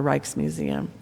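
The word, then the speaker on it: Rijksmuseum: was the reiches museum now it's it's spelled r i j KS so I'm going to call it the reiches museum world class best museum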